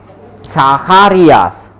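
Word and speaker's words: Zacharias: इसको क्या इसको पढ़ेंगे साखारियास, साखारियास, साकारियास और इसको पढ़ेंगे सेपेलिन, सेपेली सेपेलिन।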